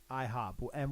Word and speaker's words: IHOBA: Yeah, the A is silent. It's the joke. IHOBA. IHOBA. Hubba hubba. Hubba hubba. Hubba hubba. Okay, we're keeping the A silent.